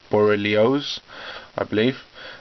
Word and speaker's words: borreliosis: disease the medical name for that is lyme borreliosis that's how you pronounce it and this can manifest itself in